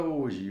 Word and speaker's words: hoje: Olha a palavra hoje. Hoje tem 4 letras e 3 fonemas. O som do H é mudo.